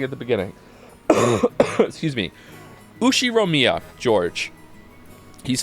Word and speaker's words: Ushiromiya: His name is pronounced why can't I not say the last name? Ushiromiya.